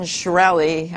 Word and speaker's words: Shkreli: his name again Martin it's not just Martin shkreli I memorized it belly and then I forgot